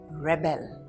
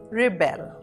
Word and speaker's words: rebel: Did you notice how the pronunciation changed? In the noun form, we say rebel and in the verb form it is rebel.